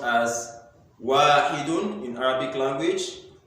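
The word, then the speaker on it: واحد: So we said 1 is pronounced as wahidun in Arabic language.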